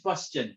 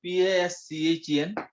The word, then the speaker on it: Paschen: Third one is Paschen, PASCHEN, Paschen series.